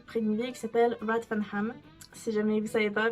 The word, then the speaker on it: Rathfarnham: d'une ville qui s'appelle Rathfarnham. Si jamais vous savez pas, parce qu'avec mon accent, c'est pas sûr. En plus, il le prononce... comment le TH, il le prononce différemment, donc je vais commencer